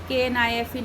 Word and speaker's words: knife: So, children, read the given word KNIFE knife, KNOCK knock, KNUCKLE knuckle. So children, here you will see that K is silent in all the words.